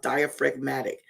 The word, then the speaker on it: diaphragmatic: That diaphragmatic, that's how it's pronounced, diaphragmatic.